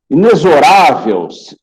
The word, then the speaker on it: inexorável: Eu vejo muita gente falando inexorável. Não, pessoal. Inexorável, dá sinônimo de rígido, inflexível, tá? A pronúncia é essa aqui, ó, inexorável. O X tem som de Z.